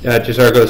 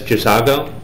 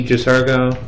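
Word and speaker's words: J'zargo: Occasionally, you might hear me mispronouncing it as Jazago because this is actually the first time that I've noticed that uh for a long time I was just misspelling uh or misreading his name.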